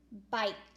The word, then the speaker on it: bike: I, finger space between my word, have, H-A-V-E, finger space, A, finger space, bike, B-I, long I, K, bike. Ooh, sneaky silent E at the end that makes the I say his name, period, at the end.